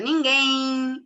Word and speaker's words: ninguém: A gente não fala ninguém. Fala ninguém. Esse I é colocado aí. Então, esse I não é grafado, mas é pronunciado.